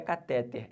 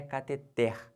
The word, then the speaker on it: cateter: mas tá errado tá não é cateter é cateter beleza essa aqui é a sílaba tônica de novo se você fala cateter você vai errar Que